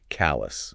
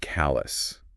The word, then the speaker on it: callous: of that and again pronunciation is key here callous right similar words like famous or generous right or that news's ending kind of becomes almost silent yeah callous okay last but not